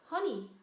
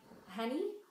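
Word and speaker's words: Hanny: It's honey, pronounced like honey. I should know, I've been hearing it all my life, but it doesn't have that same meaning in Dutch. Anyway, so not so much like Henny, Henny, because that's my dad's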